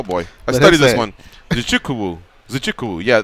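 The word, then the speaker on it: Nzechukwu: Craig defeated Kennedy uh zuku uh oh boy I studed this one zukuu zukuu yeah the Z needs to be pronounced more than zukuu via submission sodik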